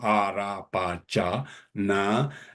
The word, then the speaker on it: Arapachana: Arapachana. A is guttural. Ra is retroflex. Pa is bilabial. Cha is palatal. Na is dental and nasal.